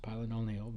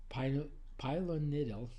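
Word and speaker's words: pilonidal: I always pronounce it pylononil, but it's pylonidal cyst, uh, and they can be very large and very painful.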